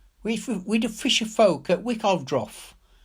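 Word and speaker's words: Wickaeldroth: "We the fisher folk at Wickovdroff." She gave the name the old Saxon pronunciation.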